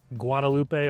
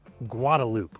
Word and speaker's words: Guadalupe: So first one, you might think it's Guadalupe or Guadalupe. It's actually Guadalupe.